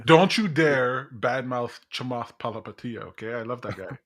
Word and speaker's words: Palihapitiya: If the David Sachs are in the mix, don't you dare badmouth Chamath Palihapitiya. Okay, I love that guy. No, it's Palihapitiya. Palihapitiya. I love him. I love both of the pronunciations of his names too.